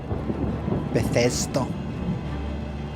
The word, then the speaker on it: Bethesda: Thanks to sub Bethesda. That's how that's pronounced everybody.